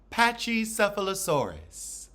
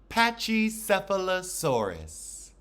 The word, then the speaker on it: pachycephalosaurus: dinosaur and now I'm looking up how to pronounce it so we open with candy on her patchesphalosaurus that's the headbutt dinosaur patchy cephalosaurus let's say it together patchy cephalosaurus cha I'm on my auntie Bev today apachycephalosaurus